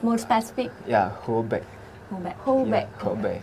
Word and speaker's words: Hebei: Yeah, Hebei. Hubei. Hebei. Yeah, Hebei. How to spell It it? means north of river. North North or of river? river. Yes, Hebei. To spell it? Hebei.